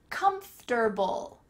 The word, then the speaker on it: comfortable: Comfortable, let's say that slowly, comfortable. In the middle of that word, it sounds like , ft, ft, comfortable, comfortable, but we often shorten this to be comfy.